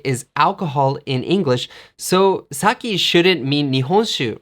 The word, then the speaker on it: sake: say it right away the way to say nihonshu in English is saki sake I really like sake